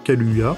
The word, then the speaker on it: Kaluuya: pu voir dans la série girl et daniel kaluuya bien évidemment ça se prononce comme ça révélée par la série skins